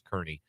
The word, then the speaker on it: Kearney: Yes, number one Washburn men, and taking on the Lopers of Nebraska Kearney.